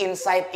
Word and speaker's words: Inpsyght: Jadi Insight ini dibacanya Insight ya kayak biasa.